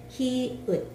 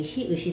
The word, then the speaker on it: 히읗: 히응인가? 히응이 아니고 히읗. 히읗. 이름이 히읗이 됩니다.